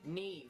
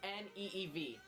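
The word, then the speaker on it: Niamh: Neve. Neve. It's pronounced N-E-E-V. Neve.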